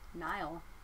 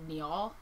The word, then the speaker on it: Niall: like I think it's the actual name is Niall but it's if you're Nigel Nile Nile like Kyle with an N I have cousins and answers but the way it's spelled is like n-i-a-l-l so I read it as Neil and then I always have to go back I'm like I don't think the guy's name is Neil it's probably something else